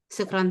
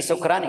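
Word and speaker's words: شكرًا: Tapi sukran itu salah, sukran. Sukran dari sakran. Sakran itu. Jadi apa, Seh? Harus shin. Kalau beda shin sama sin, watarannas sukara. Sukara itu mabuk. Oh, gitu. Jadi bagaimana, Seh, pengucapannya, Seh? Syukran aja, syukran. Oh, syukran.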